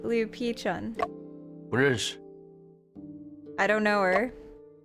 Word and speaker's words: 吕碧城: No, what I want to ask is about Liu Paichun. 吕碧城是谁？ Oh, Pichun, sorry. That's how they pronounced it. Liu Pichun.